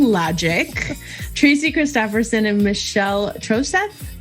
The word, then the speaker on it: Troseth: tracy christopherson and michelle troseph if i say it with the long o troce that's correct and the h is silent oh trosette uh i didn't know